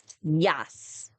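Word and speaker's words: jas: In Africans we call it a yes. So let's say it one more time. Yas.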